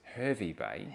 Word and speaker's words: Hervey Bay: Harvey, it's Harvey Bay if you if you read it the way that it's written.